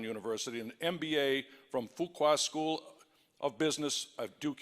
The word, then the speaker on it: Fuqua: They taught us on the first day that the way that you say fuqua is that few qualify. So it's fuqua. Because if you're not careful, you could get yourself in a little trouble.